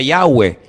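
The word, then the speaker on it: Yahweh: yot he Bad hei verdad ese nombre se pronuncia yahwe Ese es el nombre que aparece en el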